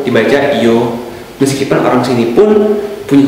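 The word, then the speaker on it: Ё: E atau Y dengan dua titik, bacanya Yo.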